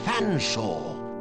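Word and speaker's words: Featherstonehaugh: can't pronounce one's name it's perfectly simple F silent e a silent T silent h silent E silent r s silent T silent o n swap the n and the S silent e h a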